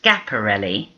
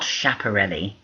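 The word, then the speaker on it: Schiaparelli: scaparelli Elsa scaparelli and please note her name is pronounced scaparelli not chaparell she was Italian and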